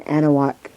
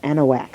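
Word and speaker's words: Anahuac: going on down in anaak Texas or anaak I guess that's the proper way to say it anaak Texas and it's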